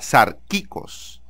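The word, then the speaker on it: σαρκικός: Así se escribe y así se pronuncia, con K y con K, sarkikos.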